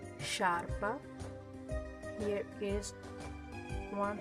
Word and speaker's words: sciarpa: In the word sciarpa is pronounced sciarpa. So the E here is necessary to make the sound sh.